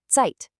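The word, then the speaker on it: Zeit: And finally, the letter Z is always a sharp T sound like the sound at the end of the word cats. So the word for time is tight.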